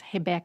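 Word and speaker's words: Rebeca: that want to know how to say her name in Portuguese it's heca and uh she got silver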